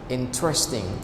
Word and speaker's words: interesting: Interesting. So only 3 syllables, right? Not interesting. Interesting. Interesting. So what does mean interesting?